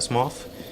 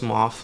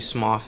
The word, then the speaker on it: Smough: it is actually pronounced SMF a lot of people pronounce it Smo or smog but it's actually smof it's exactly like uh the guy in the new continent his name is Goff you'll actually get to